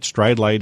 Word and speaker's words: Stridelite: Stridlite is spelled Stridelite.